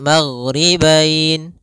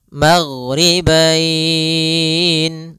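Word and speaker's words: الْمَغْرِبَيْنِ: di akhir bacaan panjang untuk mad lin sendiri Kita boleh panjangkan dua harakat boleh empat harakat boleh pula enam harakat maka kita boleh membacanya magribain dua harakat magribain empat harakat magribain en harakat nah ini juga bisa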